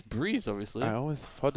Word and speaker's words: Brehze: You call him Breze? Because it's written out BREHZE, right? Yeah, Breeze. Breeze. It's Breeze. I mean, no way he pronounces it anything different.